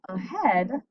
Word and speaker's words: ahead: If we look at the word ahead, we see that EA together again, but we have an eh sound.